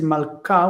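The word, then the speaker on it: מלכה: The queen is malka with a hard K because it's based on malk, malka, but in the plural it's mlachot.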